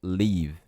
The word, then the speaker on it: live: e não é livre Ué não é falado no final então live live beleza eu tenho